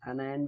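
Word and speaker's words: anion: उसमें क्या था, कटायन, इसमें क्या है, अनायन, अनायन भी बोल सकते हो, एनियन भी बोल सकते हो, ऑनियन नहीं बोलना है बस, ठीक है।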